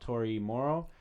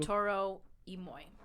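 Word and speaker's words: Toro y Moi: I'm talking about Tori Morrow, which I might be saying it wrong. I do like Billie Eilish too. Toro Imoy. Moy.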